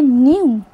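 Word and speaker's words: knew: यह जो वर्ड है के एन ई डब्ल्यू इस वर्ड को हम बोलेंगे न्यू। इस वर्ड में जो के लेटर होता है वह साइलेंट होता है। अब हम लिखते समय तो इसकी स्पेलिंग के एन ई डब्ल्यू लिखेंगे पर बोलते हुए हम इसको न्यू बोलेंगे के की आवाज नहीं निकालेंगे।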